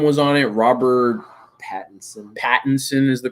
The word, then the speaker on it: Robert Pattinson: Pattinson is the correct way to say his last Fuck name.